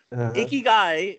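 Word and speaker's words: ikigai: you guys a leg word in the Japanese a key guy means your true purpose okay you can google it you can google I'll spell it out i kb i GA i okay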